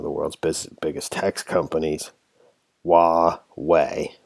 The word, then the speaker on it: Huawei: in one of the world's biggest tax companies wah way Huawei that's how you pronounce that I looked it up the Erasmus